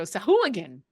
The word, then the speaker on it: Sahuagin: But it's fun to hear Matt Mercer go Sahuagin, because he puts the emphasis on the correct syllable and it's fun.